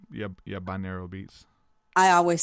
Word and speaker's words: binaural: Binaural beats is okay. How we pronounce it. Yeah, binaural beats.